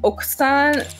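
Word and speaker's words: 奥さん: I always say Okosan, but that it's because I'm confusing it with Okusan, which is means wife. But you pronounce it like Oksan, like, so the ku is very like, yeah, short.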